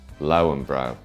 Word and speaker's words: Löwenbräu: of added value and go through the official pronunciations for these German beers. Spaten, Spaten, Paulaner, Paulaner, Hofbräu, Hofbrau, Löwenbräu, Lauenbrau, Hackepeshor, Hackashaw, Augustina.